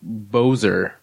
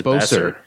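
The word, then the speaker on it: Boeser: Yeah, it should be like Bozer. But everyone says Besser. Boser, because it's also an S, not a Z. Yeah, everyone says Besser. Which, like, I get that's how his name is pronounced.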